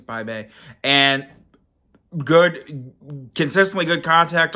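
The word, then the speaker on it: Bibee: were facing off against bay bay and I think that's what I say his name and it's bye baby because it looks like BB but I think it's by Bay and good consistently good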